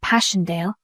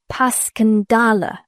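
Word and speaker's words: Passchendaele: Marant, it was so strange to hear you call it Passionale. Why, if I may ask? Because that's the way I pronounce it to myself, but I looked it up, and it's more like Pascandala.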